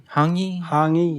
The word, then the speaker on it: hongi: When I was there, I went to, and I'm probably going to mispronounce this, Ngahi? Ngahi, yes.